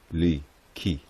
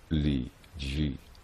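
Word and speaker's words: 禮記: front page the title Li Qi, which the head of the Chinese department of our Congressional Library tells me proper-minded Chai sinologues now think is pronounced Li Ji.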